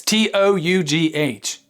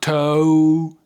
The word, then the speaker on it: tough: of cake tough yes t o u g h it's not toe it's tough tough tough tough tough It's the F sound okay so can you